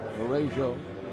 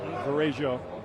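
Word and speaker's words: Varejão: the air, and we're going to see Anderson Varejao. Is that how you pronounce it? He has changed the pronunciation of his name several times this season. He says now Varejao. Varejao.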